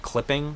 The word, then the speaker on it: Clipping: Rap group called Clipping, but it's Yeah. spelled like CLPPNG. Like there's no I's in it.